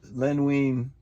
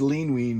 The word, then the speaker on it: Len Wein: Neil Adams, Denny O'Neil, Len Wein. I said Lean Wein, but Len Wein.